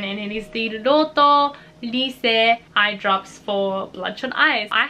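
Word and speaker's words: Lycée: I always thought it was lychee because I just read the English right, but it's actually Lyse, and it actually says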